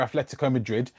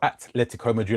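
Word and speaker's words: Atlético Madrid: Because he's never been a starter really for Atletico Madrid, or Atletico Madrid, I should say. Correct pronunciation there.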